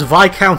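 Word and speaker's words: viscount: blade master why is vi count spelled vizcount i doubt any of the other students here could even stand their ground against her in combat much less peter well actually the s is silent but why wow interesting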